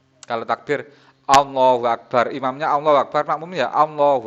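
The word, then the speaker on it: الله أكبر: Allahu Akbar atau dirubah. Tidak boleh dirubah. Allahu Akbar, Akbar itu kafnya diganti sin. Allahu Asbar, Asbar.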